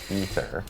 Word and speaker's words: Aether: Despite it being spelled t h e r was actually pronounced ether when we came out with the season of infernal hordes and since then it's canon.